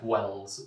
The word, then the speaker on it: Wells: So you need to be on the safe side to pronounce it properly. Wells.